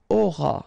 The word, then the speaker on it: auras: Alright, then tu auras. Final S not pronounced.